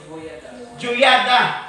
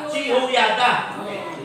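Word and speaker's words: Jehoiada: So, Juyada. O Juyada. Sa i-pronounce na? Jehoyada. Dahil sa iya nga lang, i-pronounce Jehoyada.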